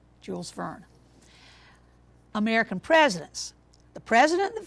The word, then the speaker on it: Jules Verne: worry about your pronunciation it is Jules Verne Jules fern American presidents the president